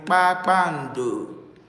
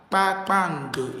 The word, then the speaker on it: Kpakpando: Then we have KP, B as in Kpakpando, star. Kpakpando is what in English? Kpakpando is star. Kpakpando, star. KP is pe, pe, pe, pe, pe, pe, pe, pe, pe, pe, pe, pe, pe.